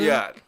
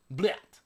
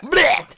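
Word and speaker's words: блять: Bulyat. Is that what it? Bulyat. Bulyat. What is it? It's BYLAT. Bulyat. Bulyat. Blyat. Blyat. Yeah. Blyat. Blyat. It's Blyat. BLYAT. Blyat. That's how it's spelled.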